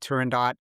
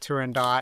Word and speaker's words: Turandot: And by the way, she pronounces it Turandot, and so I pronounce it Turandot. I know there's a lot of controversy. Is it Turandot or Turandot? Yeah. Goes, it's divided. And the figure skating community generally says Turandot.